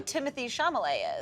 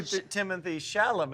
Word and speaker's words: Timothée Chalamet: I know his name do you know who Timothy Shalay is shamal shal is that not how you say it take a lap take do you know what is it do you know who Timothy shalam is yeah I do but who's the other